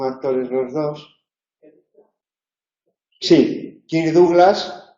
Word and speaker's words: Douglas: Bueno, pues porque Douglas es de la época en la que se estudiaba francés y Douglas se pronunciaba la francesa Douglas, y sin embargo Douglas ya se ha estudiado inglés, ¿no?